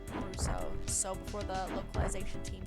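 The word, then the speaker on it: ブルース: Reminds me how in Mega Man, Proto Man was called Bruce in the Japanese version, but in the Japanese they pronounce it Bruso.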